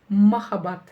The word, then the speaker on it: махаббат: Самое красивое слово для меня в казахском языке – махаббат. Любовь. Махаббат. Разделили по слогам и прочитали. И ударение будет стоять на последнем слоге.